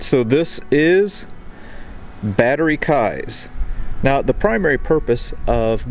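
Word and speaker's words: Keyes: now is called battery kai's spelled k-e-y-e-s which some people might pronounce keys but i knew a guy one time by the last name of k-e-y-e-s it was pronounced kai so anyway that's what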